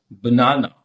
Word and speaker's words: banana: We pronounce it banana.